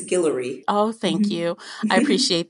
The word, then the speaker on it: Guillory: wedding date series by Jasmine Gilroy did I pronounce her last name right I know you know right it's I believe it's Guillory oh thank you I